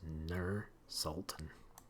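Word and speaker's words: Nur-Sultan: Nur Sultan. Nur Sultan. That's how you pronounce it.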